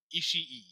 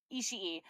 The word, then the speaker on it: Ishii: Uh, Ishii. Ishii.